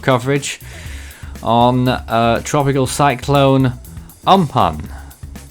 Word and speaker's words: Amphan: on a tropical cyclone um pun I believe it is pronounced by now I think